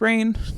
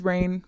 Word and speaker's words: Raihn: We later find out that his name is Rain, which is awesome. It has an H in there. You know, the H is silent. Um, but yeah, so this is Rain.